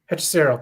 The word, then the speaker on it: Hechicero: What did you pronounce his name? Hechicero? Hechicero, thank you.